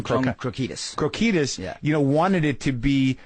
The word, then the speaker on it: Krokidas: Krokidas.